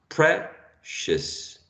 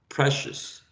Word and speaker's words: precious: a vowel vowel sound the i the o and the u together at the end of a word we have to look at this as a suffix and the pronunciation would be a schwa precious precious okay remember that one